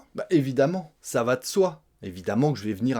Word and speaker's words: ça va de soi: Quatrième expression : "Ça va de soi". On mange un "e", "ça va de soi".